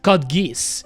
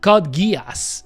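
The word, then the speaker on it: Code Geass: Funnily enough, some of my friends uh especially French friends, they pronounce it Kodgis, you know, but it's not pronounced codgiz. It's pronounced codgas, you know, and people used to joke about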